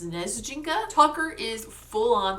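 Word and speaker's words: Снежинка: They call her and Tucker a word in Russian. I believe it is pronounced Snezjinka.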